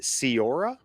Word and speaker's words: Ceora: Oh, and I meant to ask you before we started, Cierra? Is that how I pronounce it?